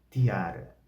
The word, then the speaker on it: tiara: X ou pelo T, a pronúncia é do T, como tiara, tiara, tiara, ostium, ostium, ostium, brutium, brutium, brutium.